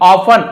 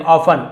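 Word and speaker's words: often: His ministers, उनके मंत्री, ऑफन अक्सर, टी साइलेंट लेटर होता है, हम ऑफ्टन नहीं पढ़ेंगे, ऑफन, अक्सर हमेशा को ऑफन कहा जाता है।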